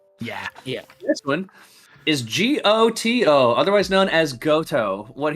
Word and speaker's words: GOTO: like the go-to Droid all right they pronounce it as goto in the game uh he's not technically